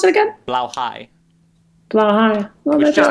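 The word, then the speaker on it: Blåhaj: How do you pronounce it again? Blauhigh.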